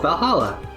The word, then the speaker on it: VA-11 Hall-A: hard to pronounce good think it's actually called Valhalla numbers and letters are just a code anyways I visited this